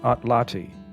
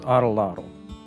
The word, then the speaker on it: atlatl: This device originated as a spear thrower, also known as an atlati, usually mispronounced as atlatl, a tool that effectively